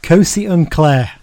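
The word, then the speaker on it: Kgosi Ntlhe: It's pronounced Kosi Unclair. Right. Which I know is baffling, isn't it? Because it looks nothing like that when it's written down.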